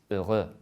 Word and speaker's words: heureux: It's heureux. Heureux. We can see that the H and the X are silent.